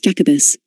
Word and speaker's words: Jacobus: great britain whose name in latin is jacobus pronounced jacobus from the name jacobus we get another waymark